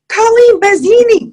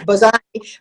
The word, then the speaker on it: Bazzani: street and window shopping, Colleen Buzina. That's not obviously phonetically it's Bazzani, but I knew that